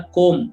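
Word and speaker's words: comb: ಇದು ಕೋಂಬ್ ಅಲ್ಲ, ಕೋಮ್. ಕೋಮ್ ಅಂತ ಅಷ್ಟೇ ಉಚ್ಚಾರಣೆ ಆಗುತ್ತೆ.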